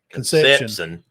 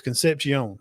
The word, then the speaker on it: Concepcion: It's not Conception. It's Concepcion. Concepcion.